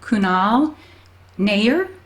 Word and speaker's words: Kunal Nayyar: from I follow I just looked up the pronunciation of it cuz I never knew how to say his name cannot Kunal Nayyar he plays Raj on Big Bang Theory and